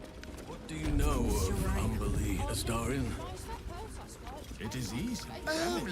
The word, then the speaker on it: Umberlee: What do you know of Umberlee, Astarion? It is easy. Oh, lots. Rhymes with undersea, for one thing.